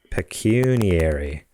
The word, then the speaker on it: pecuniary: that a word google says that's how it's pronounced pecuniary relating to or consisting of money basically they're